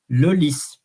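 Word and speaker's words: lys: the previous sessions that normally when you have an S you don't pronounce it but here it is an an exception Lis and um I never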